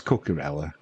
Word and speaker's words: Cucurella: I know I say his name wrong, don't I, Cucurella, but is it Cucurella? It's Cucurella.